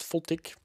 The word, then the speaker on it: FLTK: spoke about plotting so fltk or pronounced fultic is a very minimalistic